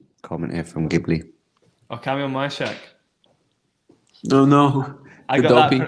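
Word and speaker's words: Kamil Majchrzak: Kamal Marchik, what's this? Comment here from Ghibli. Oh, Kamil Mashak.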